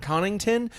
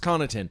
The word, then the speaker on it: Connaughton: come in and said oh is that Pat connington to which I said no it's pronounced Connaughton you don't listen the Whitledge and and she